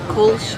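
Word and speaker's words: Kölsch: up before dinner, this Sion, how do you pronounce that? Enunciate that? Sion Kolsch. Okay, Kolsch.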